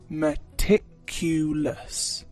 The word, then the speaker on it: meticulous: very detailed you can say instead meticulous meticulous pronunciation is meticulous it's a full syllable word and you can